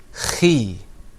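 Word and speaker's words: خِ: Now that middle letter that has a line beneath it, that's pronounced khi.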